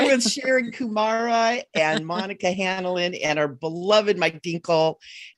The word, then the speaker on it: Hanlin: Is that how you say it? H-A-N, Hanlin. Hanlin. Yeah.